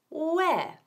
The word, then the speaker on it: where: palabra donde, que significa where. Y la pronunciación también es esencial. Hay que decir where y no where. Como la primera sílaba de la palabra huevos. Where.